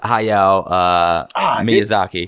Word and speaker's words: Hayao Miyazaki: She's not as well known as the founder of Studio Ghibli, who is Hayao Miyazaki. I did not pronounce that name correctly.